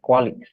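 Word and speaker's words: QALY: Nah, ukurannya biasanya CUA ini yang dilihat adalah quali, quali ya, bukan kali ini bacanya, tapi quali.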